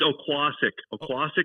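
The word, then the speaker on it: Oquossoc: Scott, we were just talking about this Okisak race. I don't know how the hell you say it. Yeah, how do you say it? Okisak. I don't know. It's Oquassic, Maine.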